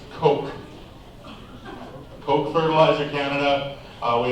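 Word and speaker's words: Koch: we've been referenced to Cosh fuels we've been reference to uh Kosh Ford that is not ASAP we've been referenced to Flamboyant male chickens but this is pronounced Coke Coke fertilizer Canada uh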